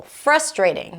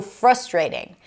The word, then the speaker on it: frustrating: Frustrating. That's how I say it. It's so frustrating. In the UK, you'll hear frustrating. Frustrating. So, both options are correct, but depending on where you live, you might want to choose one over the other.